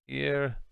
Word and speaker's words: ihr: Ear. Whenever I see that word, I think of ear as in E-A-R in English. That's how I pronounce it.